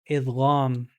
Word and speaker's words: idgham: This is called idgham. If you want, it can be I D G H A M.